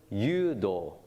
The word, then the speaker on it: Judo: is also spared j-u-d-o as in English but pronounced yudo and people who don't